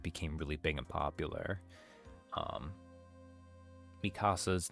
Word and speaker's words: Mikasa: Mikasa's name, you want to go Mikasa because everyone's used to hearing like Spanish and everything, right?